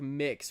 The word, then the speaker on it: MX: The title MX is pronounced like mix for the NB umbrella, I believe.